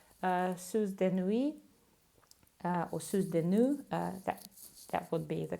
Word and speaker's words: Soeurs de Nuit: the brand is called Soeurs de Nuit, or Soeurs de Nuit, that would be the correct pronunciation.